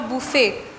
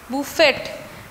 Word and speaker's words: buffet: उसका स्पेलिंग है BUFFET, टी यहाँ पे साइलेंट है, right it down, BUFFET, that's called बुफे। हाँ, बुफेट, स्पेलिंग में बुफेट आता है लेकिन हम भी प्रोनाउंस बुफे।